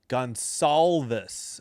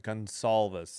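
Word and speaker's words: Gonçalves: Gonalvis. Okay, so the C is an S. I'm sorry. My mistake. Gonalis. C is an S sound. All right. Gonolvus.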